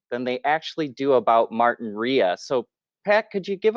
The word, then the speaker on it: Martinrea: too so it's pronounced martin rhea huh martin raya yeah a lot of people pronounce it martin ray but it's martin rhea gotcha gotcha so now